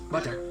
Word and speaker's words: butter: Remember, all the T's are pronounced as D's because they fall between vowels.